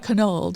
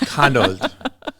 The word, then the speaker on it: Kanold: We say it Kanold. We say it very softly. Yes. These days the accent is on the old, but yeah, it's Kanold.